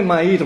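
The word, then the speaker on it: Mayr: fines del siglo pasado lo pronuncio ma porque es inglés en realidad sudafricano y ustedes saben que el inglés se escribe de una manera y se pronuncia de otra Y en este caso es medio feo no dicen que se algo así como mear Bueno entonces Castellano Suena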